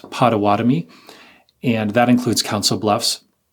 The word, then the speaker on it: Pottawattamie: It is pronounced Pottawatomie, and that includes Council Bluffs.